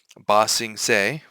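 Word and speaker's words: Ba Sing Se: Bosing seay for anyone who doesn't know that's how you pronounce that. Bosings. Um I know that there were some people who were mispronouncing.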